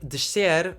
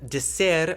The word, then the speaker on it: descer: So for words that have an S before any other consonant in European Portuguese, we have a sh sound. That means that we have pronunciations like descer or crescer instead of descer or crescer. In Brazil, as you may have guessed, people say descer or crescer without the sh sound.